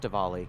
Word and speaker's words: Diwali: are celebrating the wall it's not it's it's pronounced Diwali Robert duvali yes be careful I know already